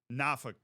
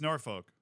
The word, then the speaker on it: Norfolk: from that area so the way that they pronounce it in Virginia is NAFA nauk it's nauk Virginia see but then if you're from Minnesota you're like oh that's Norfolk oh they're from Norfolk nauk that's nauk Virginia why I don't know